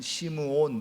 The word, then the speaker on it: 시므온: 그러니까는 본래 발음대로 하면은, 히브리식 발음대로 하면 시므온 이렇게 되겠죠.